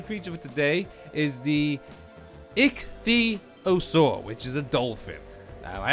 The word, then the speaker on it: Ichthyosaur: The water tame creature for today is the ichthyosaur, which is a dolphin. I had to really look how to pronounce that.